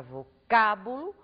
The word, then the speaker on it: vocábulo: sílaba a antepenúltima sílaba ao pronunciarmos a palavra vocábulo nós acentuamos a antepenúltima sílaba o mesmo vai acontecer